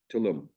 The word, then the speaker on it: Tulum: by devices indoors with Sunday hours am I pronouncing the name correctly Tulum yes sir Tulum Tulum Mexican Cuisine DBA tum Mexican Cuisine 3